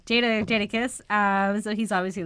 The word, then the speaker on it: Jadakiss: Jada. Like Jada Pinkett. There we go. Jadakiss.